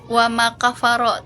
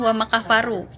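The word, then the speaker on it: وَمَا كَفَرَ: Harusnya wama kafaro tadi Resel bacanya wama kafaru iya pakai domah tadi ya.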